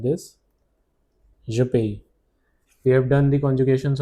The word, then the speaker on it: paie: This is pronounced as paie, paie.